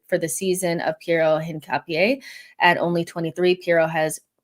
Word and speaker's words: Hincapie: The H is silent. Hincapie.